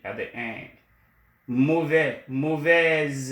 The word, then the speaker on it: mauvaise: Mauvais, mauvaise, when you add the E, the S sound, the S changes to a Z sound, and then you pronounce it.